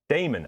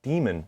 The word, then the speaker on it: daemon: Anyway, this word, daemon. I would have said daemon, but when I looked it up, I think the pronunciation is actually demon.